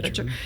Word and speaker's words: Becher: And then the coaches, let's not forget, even Pete Sorber, Tim Rooney, you mentioned, Bill Beecher, Becker, is that how you say it? Becher.